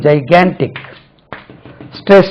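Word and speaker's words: gigantic: இதுக்கு ஆக்சுவலி இதை பாருங்க ஜாய் கேன்டிக் அப்போ நம்மளுக்கு எப்படி தெரியும் ஜைகேன்டிக் ஸ்ட்ரெஸ் lies on the second syllable ஜைகேன்டிக் ஜைகேன்டிக் நம்ம படிக்கும்போது ஜைஜான்டிக்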